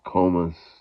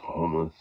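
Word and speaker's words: khomus: will Malo Argan uh komus well this pronounced homus but that's okay um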